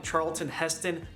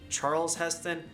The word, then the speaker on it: Charlton Heston: whole thing my bad i also kept calling charlton heston charles heston again stupid screw for updates the movies are